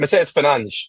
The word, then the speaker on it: Mateus Fernandes: Was it Mateus Fernandes who goes through? Yes, I'm pronouncing it in the Portuguese way.